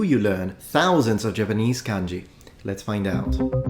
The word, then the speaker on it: kanji: accent once that is kanji now for the rest of the video I'm just going to say kanji because it sounds and flows better in English now